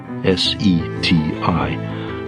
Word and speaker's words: SETI: S E TI pronounced SETI.